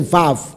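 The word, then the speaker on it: ו: 音调，就是你要念这个时候就是 v，而不是 u，乃是 vav。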